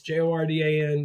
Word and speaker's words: Jordan: It's Jordan, but it's pronounced Jordan. Don't ask me why.